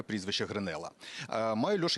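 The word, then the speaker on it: Гренелла: прямому ефірі дізналися що гренела правильно так ставити наголос розглядають як одного з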